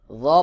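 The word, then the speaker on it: ر: শিন, গইন, হা, শিন, গইন, হা, শিন, গইন, হা, শিন, গইন, হা, ফা আমজাহ, র, ফা আমজাহ, র, র পাতলা করে উচ্চারণ হবে।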